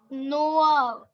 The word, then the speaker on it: noix: Last X is silent.